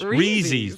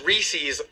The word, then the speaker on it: Reese's: Breezies peanut butter cups wheezy's that you didn't hear - Reese's I thought it was